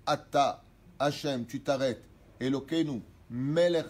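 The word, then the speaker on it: אתה: Pas Baruch Hatta. Dieu il n'a pas Hatta. Hatta ça veut dire fauter. Baruch Atta.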